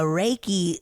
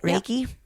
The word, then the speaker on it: Reiki: Okay, my second story isn't a ghost story, but it came about from having a Reiki session. That's how you say it, right? Reiki.